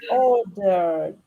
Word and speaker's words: ordered: It finishes with R, so it's a voice, right? Ordered.